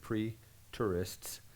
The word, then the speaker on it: preterist: AD 70, now some people, and they're called preterists, that's a cool word, pre-tourists, and it's not spelled like tourists go see things, but T-E-R.